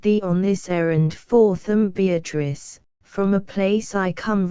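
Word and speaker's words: Beatrice: oft will tell note beatric I use this word as it is pronounced in the Italian as consisting of four syllables of which the third is a long one she then was silent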